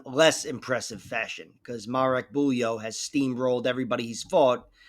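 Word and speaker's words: Bujło: And taking on Max Jimenez on a Marek Bulyo.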